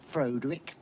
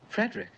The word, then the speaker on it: Frederick: no it's pronounced frankenstein do you also say frodrick no frederick well why isn't it frodwick frankenstein it isn't it's frederick frankenstein i see you must